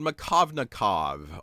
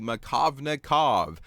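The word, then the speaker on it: Markovnikov: you is something that's going to be called machovnikov oh whoa that sounds fancy doesn't it well let's spell it it's harder to spell than it is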